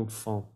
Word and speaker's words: enfant: Mi niña, mi niño, no importa el género, sería mon enfant, ¿ok? Mon enfant. Sin la T al final.